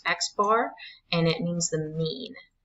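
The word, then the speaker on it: x̄: So this is pronounced X bar and it means the mean.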